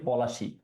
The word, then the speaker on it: পলাশী: কারণ আমরা উচ্চারণটা করি পলাশী।